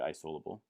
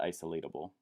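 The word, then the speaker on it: isolable: actually see this not isolobal may be a new word for you i syllable not isolate Abul but yeah you don't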